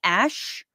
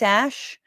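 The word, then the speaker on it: Æ: Joe Rogan experien that the AE is pronounced Ash X Ash and this is my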